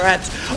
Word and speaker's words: Ratte: in the past have corrected me when I've said p1000 ratte which is how it's like written but I guess in German you just say rat uh so that's how I'm pronouncing it for this video either way tons of